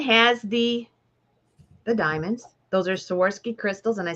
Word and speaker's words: Swarovski: Those are Swarovski crystals, and I said it right.